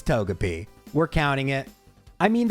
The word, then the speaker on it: Togepi: But it's pronounced Togepi in Japanese. It's Togepi.